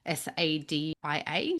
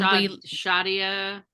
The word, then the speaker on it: Sadia: S A D I A. Sardia. Sadia. Um but thank you so much for the suggestion. Shia. No, cuz there's no there's no no H in there.